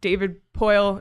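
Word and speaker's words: David Poile: in Nashville which is that their president GM David poyle that's how you say his name right yeah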